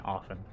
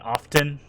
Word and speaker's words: often: Thank you for not pronouncing the T in often. You mean often?